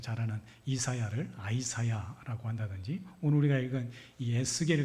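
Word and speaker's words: Isaiah: 어색해요 뭐 예를 들면 우리가 가 잘하는 이사야를 아이사야 한다든지 오늘 우리가 읽은이 에스겔 같은 경우에도 원래이 히브리어 발음은 예측케 뭐 이렇게 발음 하거든요 예측케 그럼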